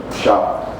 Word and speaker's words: Sharpe: what I got here um ra on Shar am I pronouncing it correctly yes perfect um with a